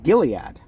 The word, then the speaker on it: Gilead: It's pronounced Gilead.